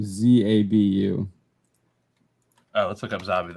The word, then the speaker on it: Zabu: Here, maybe somebody else can pronounce this name because he says Zabu, Zabu.